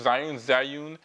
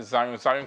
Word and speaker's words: Zhiyun: Today we have this, which you can't see yet, is the Zhiyun Crane2, Zhiyun. I pronounce it Zhiyun Crane2.